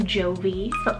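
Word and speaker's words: Jovie: here perfect for this season is the name jovi j-o-v-i-e and this one's english originated meaning cheerful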